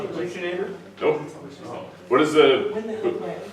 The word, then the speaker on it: buccinator: Does the buccinator extend above the?